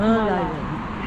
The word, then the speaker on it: Merlion: Lion, that's how it's Merlion. Thanks a lot. Bye. Okay, so the Merlion Park. Turns out I was pronouncing it incorrectly, and a guide over here corrected me very kindly.